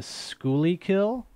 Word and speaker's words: Schuylkill: montrose or you got the delaware and the schooly kill am i pronouncing thank you or or the montrose and